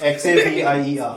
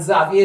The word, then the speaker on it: Xavier: X-A-V-I-E-R. Yes. So, and Xavier is a word that can be pronounced Xavier, Xavier, Xavier. All of them are X-A-V-I-E-R. Same word.